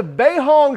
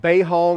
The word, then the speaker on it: BeiHong: I believe it's pronounced Bay Hong I do know it is a b as in boy not a d as in dog uh so I'm assuming beihong it would mean bee